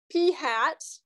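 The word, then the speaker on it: p̂: pH fat so anyways pronounced P hat and then the the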